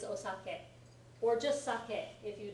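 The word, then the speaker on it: お酒: the spelling of osake Americans call it saki all the time but it's not saki it's osake or just sake if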